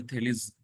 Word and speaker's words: Thales: और सबसे पहले दो फिलोसफर्स जिन्होंने फिलोसफी स्टार्ट की, थेल्स थेलिस प्रोनाउंस किया जाता है उनको, तो इनके बारे में भी आज हम पढ़ेंगे।